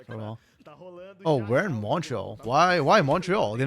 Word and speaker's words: Montreal: in Montreal I guess moral actually when people from Montreal pronounce Montreal they don't actually say the T half the time it's say Mor I know they have